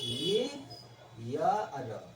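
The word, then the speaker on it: year: इसका प्रोनाउंसिएशन ये होता है, ये यर, ठीक है, ईयर और या से शुरू होता है, ठीक है, इसलिए एन गलत है, आप ए भरिए।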